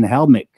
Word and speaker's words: Helmick: i am here with joey aiello and jason helmick i pronounced that right did i yeah you got